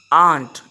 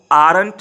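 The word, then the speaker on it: aren't: नॉट एंड आर नॉट आंट इसको आरेंट नहीं बोलने अपने आंत इसमें आर साइलेंट है तो यहां पर जो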